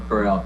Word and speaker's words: Correll: And their executive director, Miriam Correll, I think, Dave, is that the right pronunciation? Yeah, Miriam Correll, correct.